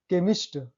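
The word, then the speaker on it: chemist: Note, कुछ शब्दों में सी एच को क से पढ़ा जाता है। वही बात है, अंडरस्टैंडिंग वाला बात है कि आपके एक्सपीरियंस पर डिपेंड करता है वो। केमिस्ट, इसका तो खास रूल नहीं है।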